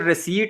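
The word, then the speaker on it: receipt: फिर रिसीट में देखें, इसमें पी साइलेंट है, डाउट में जो है ये बी साइलेंट है।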